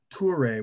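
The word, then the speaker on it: Touré: in the chat but tuare which is spelled like the word tour like t-o-u-r with an e and an apostrophe over the e uh he wrote a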